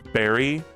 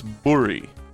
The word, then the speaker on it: berry: It all started when Isabel corrected me when I said berry. She was like, no, it's burry. And I was like, oh, I guess it is burry.